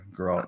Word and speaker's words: Geralt: I was Geralt, Geralt, sorry. Geralt, yeah, that's how you say it.